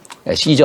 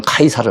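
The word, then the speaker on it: Caesar: 예 가이사 라고 하죠 시저 않은 것은 영어식 의 발음이 고 아티 너 식으로는 카이사르 라고 합니다 자 카이사르가 그래서 성격이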